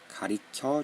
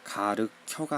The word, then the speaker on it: 가리켜: 자, 공이 굴러가는 방향으로 친구가 공이 굴러가는 방향을 친구가 손가락으로 가리켜 주었다. 가리켜 주었습니다. 그런 거죠. 손가락으로 무언가를 알려줄 때는 가리켜입니다. 그렇죠? 자, 가르켜가 아니라 가리리다.